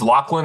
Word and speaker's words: Laughland: Is that how you pronounce it? It's Scottish. It's Laughland. It's like the Loch Laughland.